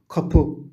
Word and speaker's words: كابو: كابو، كابو، باب. كابو. الكاف هنا تلفظ قافا مخففة لأن الذي جاء بعدها هو حرف مفخم.